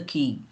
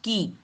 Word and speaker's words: quay: We threaded our way out of the noise and confusion of the customs shed into the brilliant sunshine on the quay. This word is pronounced quay, Quay.